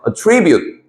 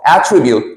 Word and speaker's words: attribute: 주고 attribute 이런 식으로 명사로 쓰게 되면 속성이나 특징이란 뜻으로 쓰이는데 엑센트를 이음절 정도해 주고요 attribute 슨 원어민이 아니기 때문에 내가 여러분들에게 강세를 가르치는 건 늘 넌센 스죠 근데 액센트가 워낙 다르기 때문에 동사로 발음하게 되면 attribute A to B 하게 되면 a b 탓으로 돌리다 알겠죠 attribute 속상 attribute 동사로 쓰이는 거 구배를 하시고요 그다음 이제